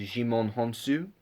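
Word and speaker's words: Djimon Hounsou: It's very well done, and I will say, I think you pronounce Jimon Honsu.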